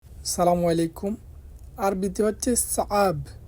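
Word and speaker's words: صعب: আরবিতে হচ্ছে সাআব। এখানে লেখা আছে সাব, আপনার সাব বলবেন না, বলবেন সাআব, আইনের উচ্চারণটা করবেন।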